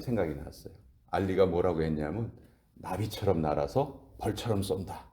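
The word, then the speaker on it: נביא: 선지자가 히브리어로 나비예요, 나비. 근데 우리가 아는 나비는 헐헐 날아다니는 나비만 생각하잖아요. 근데 발음이 똑같은 거예요.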